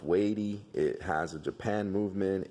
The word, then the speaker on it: WEIDE: looks like it's felled wide but it's actually pronounced weighty it has a Japan movement it's a 50